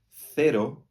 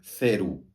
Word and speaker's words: cero: na Espanha se diz cero e em outros países se diria como uma S né cero mas não diga cero ou ceru porque a última o tem que soar o e nunca u tudo bem tem que